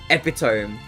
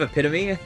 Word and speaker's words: epitome: Like people will say epiome instead of epitome, and I'm like, "Ah, so you've only read it before.